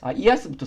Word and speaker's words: IaaS: 제일 큰 범주는 아니고 이아스부터 설명드릴게요. 여기 이제 IaaS라고 적혀 있는데 이걸 이제 보통 이아스라고 읽고 그 다음에 파스, 그 다음에 사스라고 읽습니다.